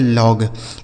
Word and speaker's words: log: LOG, एल से हो गया दोस्तों ला, इस ओ का उच्चारण अ हो गया, जी से ग बन जाएगा, लिखा गया लॉग, LOG लॉग हो गया।